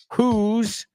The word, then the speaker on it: who's: okay so those two who's rhymes with blue rhymes with Clues rhymes with news and ho rhymes with